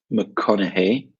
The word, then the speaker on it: McConaughey: your first sound Matthew McConaughey there's an Irish name McConaughey so the gh there just makes a hey Sam and Anne Hathaway